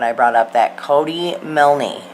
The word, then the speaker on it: Milne: Now, secondly, the live I did the other night when I brought up that Cody Milne. People say the E is silent. I have no idea.